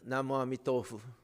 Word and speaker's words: Namo Amitofu: But they don't say Namo Amida Butsu. They say Namo Amitofu. The pronunciation is a little different. Same Chinese characters they use, but they pronounce it Namo Amitofu.